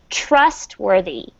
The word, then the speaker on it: trustworthy: And the emphasis is on the trust part.